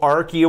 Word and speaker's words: Arkie: at the 4th Annual Arkie Awards. It was given the Best Video Game Audio-Visual Effects Award. The Arkie Award? The Arkies. How do you spell that? A-R-K-I-E. Just like it sounds.